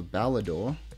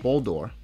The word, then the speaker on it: Boldore: A Balador. A Balador. Oh, no. Boldore. Boldore, I'm sorry.